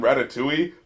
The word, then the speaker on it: ratatouille: and wait a minute did he just pronounce the L in Ratatouille like some kind of